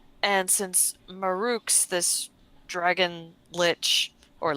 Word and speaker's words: lich: in the store, and since Maruks, this dragon lich, or lick, as some may call it, Leave her alone.